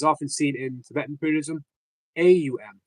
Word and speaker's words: Aum: Om, O-M, or as often seen in Tibetan Buddhism, A-U-M is actually pronounced Aum. So it's not Om. It's Aum.